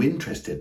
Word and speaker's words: interested: Something else I want to point out, that on paper, they might appear to have 4 syllables, but in natural, what we call native speech, we would pronounce them rather with 3 syllables.